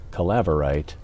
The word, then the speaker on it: calaverite: If you put that accent towards the middle, calaverite, it's a little easier to pronounce.